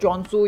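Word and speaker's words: Khonsu: अब खॉन्शू को जो है इजिप्शियन मिथोलॉजी के अंदर खॉन्शू के नाम से नहीं बल्कि कॉन्सू के नाम से बुलाया जाता है और चॉन्सू या केन्सू इसकी अलग अलग स्पेलिंग्स है, जिसकी अलग अलग प्रोनाउंसिएशंस हैं, इस नाम से बुलाया जाता है। लेकिन मार्वल कॉमिक्स में इसके नाम को खॉन्शू करके बुलाया गया है और कहीं कहीं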